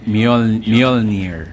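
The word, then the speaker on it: Mjölnir: Kaya niyo ba i-pronounce yun? Yung pangalan? Mjolnir.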